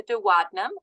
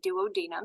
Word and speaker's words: duodenum: of the small intestine the duodenum or the duodenum you can say it like that if you want to okay